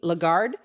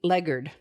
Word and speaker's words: Lagarde: native french speaker and he says that americans mispronounce it it's not christine lagarde it's christine legard so uh whatever but you know the fact